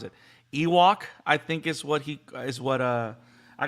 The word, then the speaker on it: Yhwach: But so Yhwach, so Car Wash.